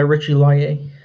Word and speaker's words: Richie Laie: Benedict do it because he just clarified how to say his name. Yeah, I think he wants to go by Richie Laie.